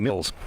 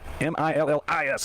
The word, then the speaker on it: Millis: in the room because I kept calling her Kathy Mills so she said it's spelled m i l l i s it's Millis and I went yeah